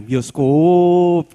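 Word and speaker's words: bioscoop: saya agak pintar ya kalau ada O di belakangnya ada konsonan Kalau belakangnya o ada konsonan habis itu bacanya agak panjang bioskop gitu ya itu cara cara bacanya ini yang orang Farmasi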